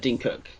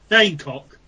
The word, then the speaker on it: Dane Cook: Lee, have you heard of Dean Cook? Dane Cook. Dane Cook, yeah. Oh, Dane Cook. Dane Cook, yeah. Oh, fucking. Oh, there you go. Fucking pronounced it. Like, I pronounced it wrong 3 times.